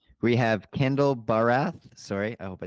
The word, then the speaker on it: Bharath: So, yeah, my name is Kendall Barath. So, you nailed the pronunciation, Joey.